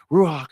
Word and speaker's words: Ruach: Ruach, you got to say it like that because that's the way they say Ruach.